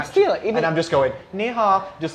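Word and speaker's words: 你好: He stood there like this, So I don't say hello, I say ni hao.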